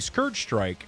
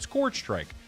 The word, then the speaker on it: Scourge Strike: DK and I pronounced instead of saying scourge strike I pronounced it I pronounced it scorch strike.